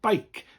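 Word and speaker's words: beic: bike quite a sharp not bike as we'd say in english but bike quite sharp and short bike spelled b e i c the c has that case of the k sound and the i sounding bike comes from the letter e and i together bike bike now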